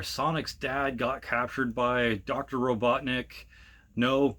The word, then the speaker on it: Robotnik: little dark, where Sonic's dad got captured by Dr. Robotnik. No, not fucking Eggman. I'm not calling him Eggman.